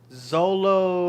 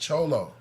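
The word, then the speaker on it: Xolo: oh you're talking about Zolo it'si exactly but it's pronounced cholo so Anubis is the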